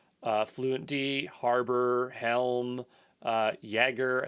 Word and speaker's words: Jaeger: fluentd harbor helm uh jaeger i think it's pronounced jagger like the j's the y uh kubernetes linker d